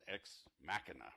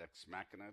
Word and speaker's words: Ex Machina: X mashina Matt mention man what is it ex machina right is that how you pronounce that ex machina did anybody see that film yeah it was